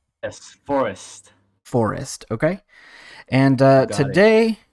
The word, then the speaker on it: Forust: andrew from forest right is that how you pronounce the company name yes forest forest okay and uh today we are uh